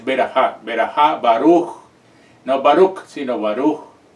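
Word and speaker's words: ברכה: en hebreo, que es berajá. Otros la pronuncian como veracá, pero la pronunciación está incorrecta porque es berajá, baruch, no baruch, sino baruch.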